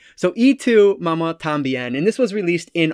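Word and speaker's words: Y tu mamá también: is e2 mama tambien it's not y even though it is a y it's pronounced e so e to mama tambien and this was released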